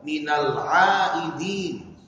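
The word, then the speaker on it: من العائدين: Padahal yang betul pengucapannya minal aidin, menggunakan ain, minal aidin wal faizin.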